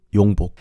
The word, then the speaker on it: Yongbok: So Felix, you could pronounce his name Felix or Yongbok. I see a lot of Korean audience saying Yongbok.